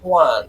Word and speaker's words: Xuan: It's Juan. It's how you say it in Spanish. I- Spanish Yeah, is that's a probably hard correct. pronunciation to J's. I thought it was Schwan.